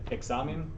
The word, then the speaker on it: examen: And it's also, you guys both times through have said examen correctly, which is great because it ends in an N, and so the second to last syllable gets accented.